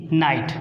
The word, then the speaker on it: knight: लिख देते हैं KNIGHT, नाइट। देखिए यहाँ पे भी हम नाइट पढ़े हैं, यहाँ पे नाइट पढ़े हैं, के साइलेंट है, यहाँ पे नॉक पढ़े